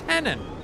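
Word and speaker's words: Hennon: henan henan henan it's henon like John lenen but with an H John henon I like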